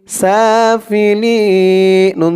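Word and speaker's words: سافلين: Scene খারা জবর সা, ফা জের ফি, সাফি, আসফালা সাফি, লাম ইয়াজির লি, সাফিলি, নুন জবর না, উচ্চারণটা হবে সাফিলিন, মধ্যে আরজি তিন আলিফ টান।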